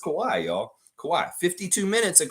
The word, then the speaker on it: Kawhi: David Saborin got it, even though he butchered his first name. It's Kawhi.